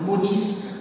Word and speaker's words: Mounis: Donc Mounis, on prononce le S, vous savez que le latin, on prononce toutes les lettres.